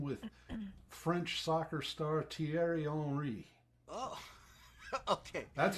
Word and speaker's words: Thierry: That's the way the soccer announcers pronounce it. Thierry. And the TH in French is spelled pronounced as T. Yeah. And then it's IERY, so it's Thierry.